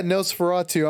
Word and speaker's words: Nosferatu: don't think, but I have seen like that Nosferatu, or is that how you say it? It's the German movie. Are you familiar with that? Yeah, Nosferatu.